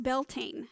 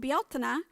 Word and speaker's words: Beltane: a little bit about beltana which is often pronounced belting and many people think that that is how it's pronounced here in the united states but it's called bialtena in ireland and it